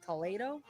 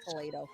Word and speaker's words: Toledo: ate it at it's Toledo. I said Toledo the other day. I think it's Toledo. I think it's Toledo. I think Sam said because it's got the accent over the emphasis over the syllable.